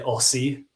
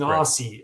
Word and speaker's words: Aussie: It's like Americans say Aussie. He's an Aussie, but you say Oz. Aussie, like it's Z's. Aussie. Or like Z's for you Americans.